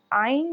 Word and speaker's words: ع: आइन जो है वो गले के दरमियान से निकलता है और ये थोड़ा-सा मुश्किल लेटर है, इसकी जो प्रोनाउंसिएशन है वो मुश्किल है।